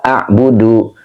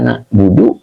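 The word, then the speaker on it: نعبد: Tidak dengan bentuk mufrad. Tidak begini. Iyyaka a'budu wa iyyaka asta'inu. Nah, tidak begini. Ya, kenapa gitu? Kenapa kita bacanya iyyaka na'budu wa iyyaka nasta'in?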